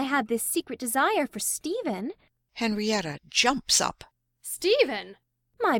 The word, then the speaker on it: Stephen: of one syllable and I read the name Stephen wrong I used to read it s-t-e-p step h-e-n hen step hen is Stephen enter Stephen his head